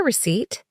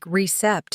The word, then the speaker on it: receipt: Can I get a receipt? Which aisle is Brad in? I made mistakes with the pronunciation. Receipt sounded like recept in my mouth.